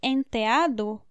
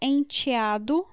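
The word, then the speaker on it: enteado: madrasta madrasta stepmother daughter the pronunciation can change because we can say entheado but also enchiado or enchiada the t can be the ort so ent or made of honor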